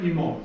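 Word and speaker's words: ἡμῶν: So we have pater imon.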